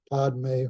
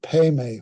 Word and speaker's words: padme: whom you'll hear Omani pay me home because that's the way Tibetans tend to pronounce p-a-d-m-e is pemi so the the Mantra